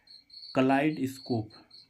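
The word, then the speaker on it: kaleidoscope: एस सी ओ पी क्लाइड स्कोप क्लाइड स्कोप मीस क्या होता है रूप दर्शक क्या होता है बहु रूप दर्शक यानी कि ई आई का उच्चारण यहा आई कलाई क्लाइड स्कोप क्लाइड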